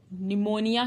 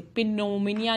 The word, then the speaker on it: pneumonia: For example PNEUMONIA, निमोनिया कहते हैं हम इसे, पिनोमिनिया नहीं कहते, निमोनिया कहते हैं।